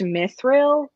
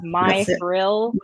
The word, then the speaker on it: Mithril: called it like m i think it's pronounced mithril but it's like my thrill which is yeah which